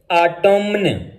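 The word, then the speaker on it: autumn: जैसे आटोमन, आटोमन लिखा होता है लेकिन एन साइलेंट होगा, आटोम।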